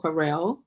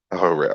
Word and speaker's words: Harrell: I pronounce it Harrell. Harrell.